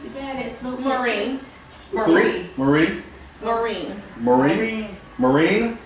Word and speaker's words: Maureen: Maureen.